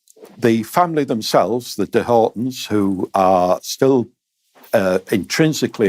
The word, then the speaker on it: Hoghton: So, I should say it's Horton Tower, but it's it's not spelled as you might expect it to to be spelled. No, it's spelled H O G H T O N.